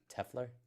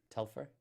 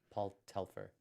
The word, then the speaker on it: Paul Telfer: they have paul beck yeah not narita no tefler tefler telfer telfer paul telfer yeah handsy that handy guy yeah i just